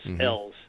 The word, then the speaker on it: El: And you might say, "Well, Gary, how do you know his name is L, which is spelled E L?"